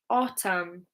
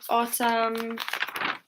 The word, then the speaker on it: autumn: Okay, if the letter N is at the end of the word and it comes after M, it's silent.